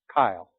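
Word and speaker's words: chyle: it limp they can call it Kyle c-h-y-l-e a little bit different than most guys with that name spell it so let's look again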